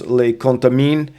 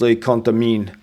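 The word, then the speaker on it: Les Contamines: this is a place le contamin. Uh, probably we want to say leont mines. Um, but you again the s is silent. So the pronunciation is le contamin and the s is silent.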